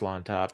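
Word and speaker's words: Llontop: against James lawn toop I don't know how you pronounce the Double L there at the beginning it's it's just lawn toop I uh catchweight though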